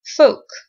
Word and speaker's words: folk: that is really confusing which is folk folk never say folk never say full cloer it's folk folk another easy word just